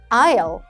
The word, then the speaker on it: aisle: aisle, aisle. S 발음 절대로 하면 안 되고요.